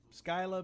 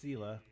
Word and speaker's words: Scylla: years the Selah returns Scylla but I think it's pronounced Selah returns to port to